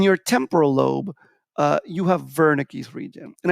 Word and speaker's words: Wernicke's: temporal lobe you have wernicke's region and i know it's spelled wernicke's with a w but it's wernicke's region and wernicke's region helps